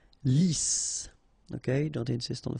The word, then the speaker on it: lisse: Lisse. Double S here, so it's really a strong S. Lisse.